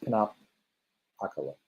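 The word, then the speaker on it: Pinupocalypse: Pinup is in the pinup girl. Apocalypse. There you go. I think you have to say it kind of like 2 words. Pinup apocalypse.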